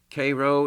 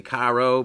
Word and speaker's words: Cairo: So these men eventually they were on their way to Cairo, Illinois. That was the destination of the Sultana. A lot of people way spelled want to say Cairo, but the locals say Cairo.